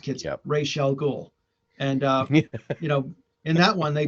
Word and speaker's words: Ra's al Ghul: with Ra's al Ghul, and it's pronounced, kids, Yep. Ra's al Ghul, and in that one they just that was